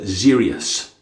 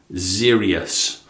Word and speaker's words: Xeryus: going to pronounce it Zerius. Zerius. See, there's an X and there's a kind of E hidden in there as well. So, Zerius.